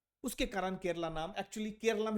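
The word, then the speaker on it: കേരളം: तो केरलम जो है, देखोगे तो मलयाली में केरला को केरलम ही बोलते हैं, है ना? तो वो एक मलयाली प्रोनाउंसिएशन है, इसीलिए उसको केरलम कहा गया है।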